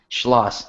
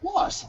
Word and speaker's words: Schloss: Schloss, yeah. Schloss, okay.